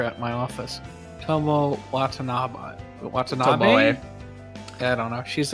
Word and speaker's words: Tomoe: There is an E pronounced Tomoe.